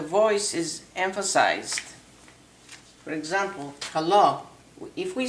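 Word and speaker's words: καλό: You just pronounce the letters, each one. For example, kalo. It's kappa, alpha, lambda, o. Kalo.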